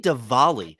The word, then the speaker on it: Diwali: Zach, happy Diwali. That's how you pronounce it. Tell me anything you know about Diwali.